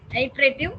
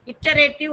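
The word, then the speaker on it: iterative: அதான் நான் முதல்ல சொன்னது, sequential, அல்டர்னேட்டிவ் R branching, ஐட்ரேட்டிவ் R looping. இட்டரேட்டிவ் அப்படின்னு சொல்லுவாங்க, ஐட்ரேட்டிவ் அப்படின்னு சொல்லலாம். ஸோ சிலர் வந்து இட்டரேட்டிவ்னு ப்ரொனவுன்ஸ் பண்ணுவாங்க, ஐட்ரேட்டிவ் ரெண்டுமே ஒன்று தான்.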